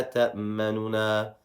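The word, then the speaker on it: تَأْمَنَّا: So we would say, مَا لَكَ لَا تَأْمَنُنَا. مَا لَكَ لَا تَأْمَنُنَا. So you see how I brushed by that noon with a dhamma, and I lowered my voice. That's how you would properly pronounce this word.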